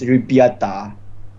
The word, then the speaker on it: ребята: And the P is not P, it's R in Russian. So it's ребята. The R terbalik yang besar tu macam R capital R tapi terbalik it's ya. It's pronounced as ребята.